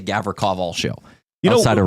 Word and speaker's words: Gavrikov: And he's been having a hard time with Gavrikov. Gavrikov. He's been saying really? Gavra something else. I'm going to have to ask you after what that is. Yeah. Rhymes with sock.